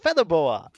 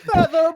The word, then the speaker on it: Featherboa: no, it's pronounced Featherbow! He should I know how his pronounce my own name! he should know how his name is pronounced.